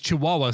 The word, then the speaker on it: Chihuahua: sounds better when you put the two bad pronunciations together I prefer chikuwa right it is Chihuahua so I said she Oh wah wah because